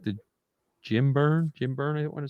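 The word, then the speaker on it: Jim Byrne: I followed Superman because I like the Jim Burn.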